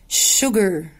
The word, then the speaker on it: sugar: she uses استخدمت sugar. ايه الش دي؟ الاسم عليو اتنطقت هنا ايه؟ ش ش. فقلنا she uses استخدمت sugar.